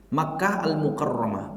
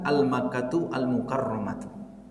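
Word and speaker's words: مكة المكرمة: Seperti Makkah Al-Mukarramah, bukan Al-Makkatu Al-Mukarramatu. Ya.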